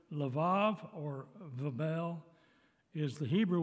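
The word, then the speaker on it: לב: at the definitions the hebrew word is lev it's two letters lamid base there's an e in the middle in the english because that's what the masoretic scribes told us how it was to pronounce this word lev or vebel is the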